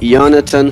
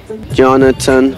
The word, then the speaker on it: Jonatan: me at Jonathan with a J but it's pronounced Jonathan because I'm from Slovenia Jonathan with two else once again Jonathan how do you spell that j-o-n-a-t-a-n without